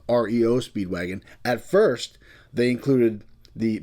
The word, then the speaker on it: REO Speedwagon: He liked that name, but instead of calling them the band REO Speedwagon, they separated the letters, and of course, it's called REO Speedwagon.